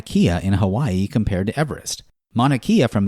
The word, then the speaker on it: Everest: These days, we pronounce his name Everest.